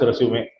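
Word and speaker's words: résumé: Even though we write it as resume, it's pronounced as resume.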